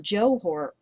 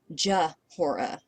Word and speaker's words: Jeor: got the part right but Jo o even though it's at the beginning of the name that's really not the sound it's not Joor it's Jora so you need something